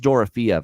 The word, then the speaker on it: Dorofeev: For props, I like Dorofeev, and it is Dorofeev. I'm hearing multiple games now with the Vegas feed from Dave Gosher. He's been pronouncing it as Dorofeev, not Dorofeev. So that's what I'm going to go with, Dorofeev here for Vegas.